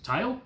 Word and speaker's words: Tael: They're both 37.5 grams, but one's really the Portuguese pronunciation of it is tail.